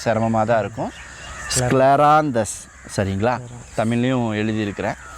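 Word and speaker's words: Scleranthus: அப்படின்னா ஸ்கிளரான்ஸ் அப்படின்னு சொல்லக்கூடிய மலர் மருந்து பேர் கொஞ்சம் உச்சரிக்க சிரமமாதான் இருக்கும் ஸ்கிளராந்தஸ் சரிங்களா தமிழ்லயும் எழுதி இருக்கிறேன் சோ இந்த மலர் மருந்து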